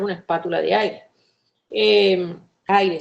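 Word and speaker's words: Ayre: Eh, aire se escribe a Y de yoyo r e, no aire como el que respiramos, sino aire.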